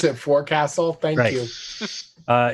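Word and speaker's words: forecastle: In Canada we pronounce it for castle.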